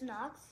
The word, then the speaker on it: Nox: her yeah okay so the pronunciation is nox okay just knock knocks anyways use to extinguish